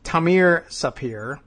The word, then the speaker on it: Tamir Sapir: That company's founder, the late Tamir Sapir, it rhymes, arrived in New York